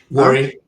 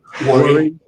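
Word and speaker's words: Warri: worry how do you say it correctly worry worry A R I Yeah, Delta State.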